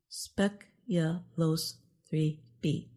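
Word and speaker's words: SPECULOOS-3b: Newly discovered exoplanet Speculos 3b is pronounced Speculos 3b.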